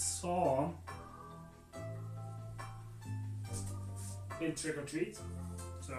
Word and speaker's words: Samhain: It's not Samhain, it's Saw.